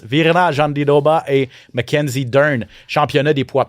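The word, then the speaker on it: Jandiroba: Euh une minute, un commentaire chacun rapide sur Virna Jean Doba qu'on prononce. Virna Jandy Doba et McKenzie, championnat des poids pailles féminin 115 livres.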